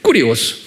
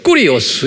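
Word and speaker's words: κύριος: 꾸리오스. 그래서 이제 킹 제임스 성경이 1611년에 만들어졌는데 이때도 이제 제호바라고 구약에 말하기도 하고 또는 신약은 the Lord, 꾸리오스 이렇게 발음해요. 꾸리오스.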